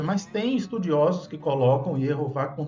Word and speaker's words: Yehová: Mas aí a pessoa fica pensando, mas por que então Yehová você está considerando como correto? Vamos falar sobre isso agora. Ierro forma a primeira sílaba e Vá a segunda sílaba.